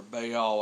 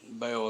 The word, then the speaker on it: Baal: for the images of Baal um or Baal I've heard it pronounced but Bale is how I pronounce it and set up Asher